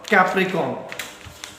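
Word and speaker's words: Capricorn: अब यहाँ स्पेलिंग में हमेशा पूछता हूं और आप लोग हमेशा गलती करते हैं, ज्यादातर बच्चे कैप्रिकॉर्न पढ़ते, बट यहाँ पे आर है, और कैप्रिकॉर्न पढ़ेंगे तो आर मिस नहीं करना।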